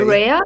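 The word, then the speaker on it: Rae: to be honest, I summoned, how do you pronounce it? R-A-E, right? Ray. Rhea?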